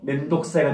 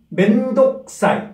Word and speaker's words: 面倒くさい: 그래서 멘독사이가 되는데, 오늘의 가장 중요한 부분은 발음입니다. 발음. 멘독사이. 과감하게 멘독사이, 사이라고 발음해 주시기 바랍니다.